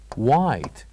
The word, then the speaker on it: white: is white white so from this word white the silent letter is H the silent letter here is HED so here we write H but we don't say it we don't pronounce it and then here we